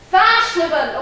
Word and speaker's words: fashionable: Fashionable. Okay, where's the stress? You say fashionable. Fashionable. Fashionable. It's 4 syllables.